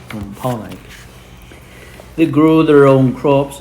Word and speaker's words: Wampanoag: They needed more space, and so they kept moving further west and further into Native American lands until the Wampanoag tribe decided to fight back.